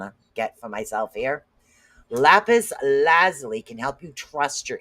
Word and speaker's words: lapis lazuli: It's pronounced lapis lazuli, not lazuli, because that's what I call it all the time. My daughter goes lazuli.